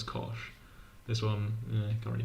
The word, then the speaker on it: cosh: People say fan, people say shine, nobody says chos. Chos just never gets brought up. People all say kosh. We've all agreed to pronounce that one as kosh.